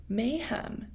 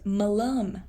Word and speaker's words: malum: Mayhem. It's Latin. It's really tiny words. I don't know if I'm saying it right. No, it's malum.